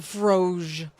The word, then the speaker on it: Froge: It's pronounced froge.